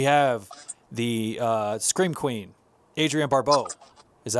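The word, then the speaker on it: Adrienne Barbeau: the scene we have the uh scream queen adrian barbeau is that how you say her name yep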